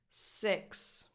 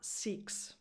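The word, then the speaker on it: six: 6. This number has a lax I, as in the word it. It's not seeks, because seeks is this verb here.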